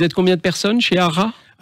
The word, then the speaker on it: Hara: C'est l'entreprise ARA, ça s'écrit H-A-R-A.